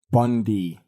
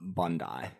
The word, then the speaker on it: Bondi: I want you, Nick, to just let the international listeners know, how should Apple Bondi be pronounced? Bondi. I'm just kidding. As you said, Apple Bondi.